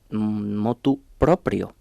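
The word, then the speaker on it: motu proprio: De ahí viene, por cierto, la locución latina, que quien quiera pronunciarla bien ha de decir mot propio.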